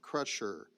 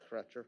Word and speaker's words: Crutcher: of an agreement with kevin crusher if i pronounce that name correctly correct crutcher yep okay uh do i